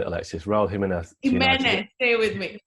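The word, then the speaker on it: Jiménez: Jimenez, stay with me. Jimenez.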